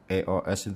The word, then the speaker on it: EOS: Ya, sebenarnya itu bukan singkatan; EOS bukanlah singkatan. Cara membacanya yang benar adalah sebagai satu kata: "EOS," teman-teman. Bukan " E-O-S" seperti itu.